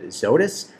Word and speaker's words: Zoetis: Our fifth stock is ticker ZTS, and I think that's going to be pronounced Zoetis, Z-O-E-T-I-S. Hopefully I got that right.